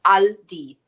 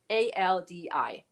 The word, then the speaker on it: Aldi: It's Aldi. It's Al Aldi Aldi. A L D I. A in German is ah. Ah. Aldi.